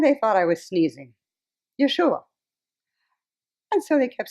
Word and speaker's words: Yeshua: first of all um the name jeshua that is something that is easier for you to pronounce but in my lifetime 2 000 years ago i was known as yeshua i tried that out